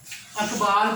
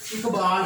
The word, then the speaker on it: اقبال: ہمارا ٹاپک تلفظ سیکھیں۔ یہ جو ہمارے پاس پہلا لفظ ہے اقبال پڑھتے ہیں جبکہ درست لفظ اقبال ہوتا ہے۔ اکثر محمد پڑھ جاتے